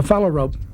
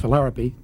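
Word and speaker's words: phalarope: ancient rhythm of nature a follow rope sometimes pronounced philarpy skims along a small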